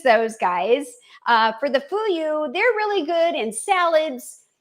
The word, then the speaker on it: Fuyu: hata and the fuyu. Foo you. Fool you. Like fool you. But it's not fool.